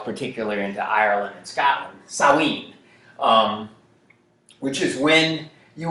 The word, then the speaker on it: Samhain: was referred to as saowin uh spelled s-a-m-h-a-i-n samhain is how it looks like it should be pronounced but that's sort of a scotch gaelic word um that was the